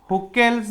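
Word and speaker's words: Hückel: Pi electron, मतलब इसको हम हुकेल्स भी बोलते हैं, कुछ लोग हकेल्स भी बोलते हैं। ठीक है, तो ये रूल हमें फोकस करना है बच्चों लोग, हकेल्स बोलो या हुकेल्स बोलो।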